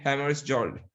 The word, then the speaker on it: Hammarskjöld: Dag Hammarskjöld. Dead Hammarskjöld. Okay, K is silent.